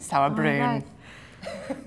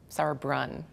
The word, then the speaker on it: Sauerbrunn: and she's from Virginia did anyone notice you just did a German pronunciation of sour you did I did saour BR well it works this time just take it sour Brun sour Brun this is Becky sour